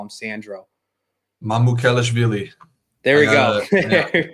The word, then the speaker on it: Mamukelashvili: I won't even try and pronounce his last name. That I won't butcher, but we're gonna call him Sandro. Mamukelashvili.